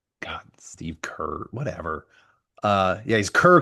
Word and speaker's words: Kerr: You said Steve Car instead of Kerr, which I love. Oh, Mr. Care. Steve Cares. Tim Apple came out and said, "God, Steve Kerr, whatever."